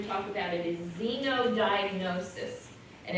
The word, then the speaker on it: xenodiagnosis: so we're going to talk about it is xenodiagnosis and it's x-e-n-o Xeno diagnosed you take a